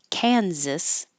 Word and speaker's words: Kansas: order they don't sound the same at all Kansas and Arkansas this ch here sounds like a